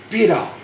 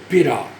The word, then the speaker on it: pita: Depois a gente tem pita. Pita.